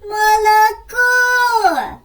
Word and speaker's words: молоко: зображена на моєму білиці молоко наголос падає на третій останній склад тож я займу місце